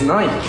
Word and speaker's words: Nike: But you gotta give us Nike. Nike. Why are you adding so much? It's Nike. There's no E. Again, that's a weird one because, you know, like B-I-K-E would be bike.